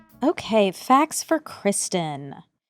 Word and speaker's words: Cristin: But Kristen, C R I S. I know what you mean. I think the same exact thing. I I didn't realize it was even pronounced Kristen.